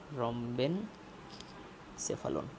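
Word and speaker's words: rhombencephalon: আছে সেটাকে আমরা বলি রম্বন সেফালন ঠিক আছে রম্বেন সেফালন তো এটার উচ্চারণটা একটু মনে রাখবেন রম্বেন সেফালন যেটা হাইন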